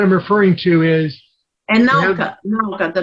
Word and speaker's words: Nauka: are repairing now is the Japanese module, the Nakwa. How you pronounce it? The Sveta is the one you're talking about. That is the other module. What I'm referring to is. And Nauka, the name of the new module.